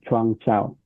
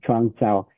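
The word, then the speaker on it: 创造: Chuang Chao. Yeah, Chuang Chao.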